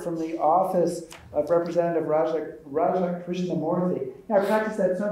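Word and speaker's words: Raja Krishnamoorthi: I said, hi, my name is Raja Krishnamoorthy. And the person looking right back at me in Chicago said, Roger Christian Murphy.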